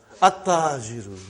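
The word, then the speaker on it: التاجر: How will you pronounce this now? At-tajiru. You did not pronounce al. You did not pronounce lam. Okay, you did not pronounce. You skipped it.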